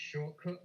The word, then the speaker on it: Shotcut: I use a free software called Shotcut, or I think it's pronounced Shortcut, but it's spelled Shotcut.